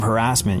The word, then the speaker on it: harassment: You went with the English pronunciation of harassment. Instead of harassment, you went harassment, which is what everybody said growing up in England.